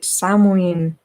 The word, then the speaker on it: Samhain: ends and begins at salman there are variations in spelling as with many wiccan names scottish wishes for example call it samween and the irish witches samuel forgive my pronunciation please samin is a